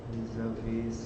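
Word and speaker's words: vis-à-vis: The S is silent.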